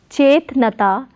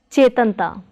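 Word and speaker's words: ਚੇਤਨਤਾ: So it is not chetnata but chetanta, chetanta.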